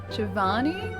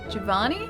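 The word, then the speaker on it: Giovanni: You don't pronounce the I after the G like Gath Rose.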